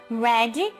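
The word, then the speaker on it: read: verde é o infinitivo Red no passado eu sempre falo o seguinte para os alunos se você tem dúvida de como pronunciar o a palavra o verbo ler no passado lembre da cor vermelha velho velho tá certo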